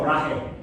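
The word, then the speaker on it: Brahe: Dijo Braje. Sería más o menos en Danés.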